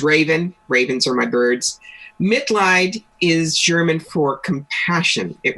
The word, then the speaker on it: Mitleid: I said it right, Mitleid, right? You did.